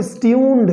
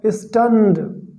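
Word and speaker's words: stunned: एंड वॉज स्टन्ड, स्टन्ड इसको कुछ लोग पढ़ते हैं दोस्तों स्ट्यून्ड, जो कि बहुत ही गलत है, राइट। इसका सही जो उच्चारण है वो होगा स्टन्ड, ठीक है।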